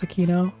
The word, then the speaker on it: Aquino: As a Filipino, it is my duty to say that I think it's pronounced Aquino. Oh, okay. You know? So there's just like a lot of popular, because this is like a Spanish last name.